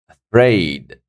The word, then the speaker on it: afraid: on it afid afid afraid second syllable afraid pretend pretend again